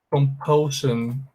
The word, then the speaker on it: compulsion: Compulsão, ó, compulsão em inglês, compulsão, se fala assim, ó, compulsion, compulsion, compulsion. Por que aqui, professor, tem som de shan? É porque antes tem a consoante L.